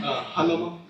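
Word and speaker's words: Jalomo: Halomo. Spell it for the court reporter.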